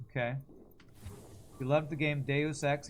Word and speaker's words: Deus Ex: You loved the game Deus Ex, you always thought it was pronounced Deuce X. Like Deuce Bigelow?